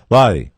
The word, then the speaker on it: Lochte: If you're going to mention his name, you should pronounce it the way he does. Lochte.